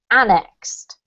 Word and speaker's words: annexed: so this word here you pronounced it right but the emphasis is on and so it's annexed annexed okay yes now there's